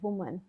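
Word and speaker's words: women: काम कर रही है अब जब सिंगल महिला है तो उसको प्रोनाउंस करेंगे वुमन और जब प्लूरल है तो विमन एट the time Ram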